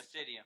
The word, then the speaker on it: Acaedia: you say your name Acadia or Aradia it's Acadia Acadia Acadia okay we are here with this